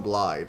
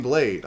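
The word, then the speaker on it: Blaidd: myself from saying it I know that most of the characters in the game call him blide and I think that's actually how you pronounce it but I keep saying blade I can't stop myself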